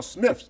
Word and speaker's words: Smythe: All you Smythes out there, you are Smiths. Don't bullshit me. You are Smiths, okay? I like that. Try to pronounce it as Smythe.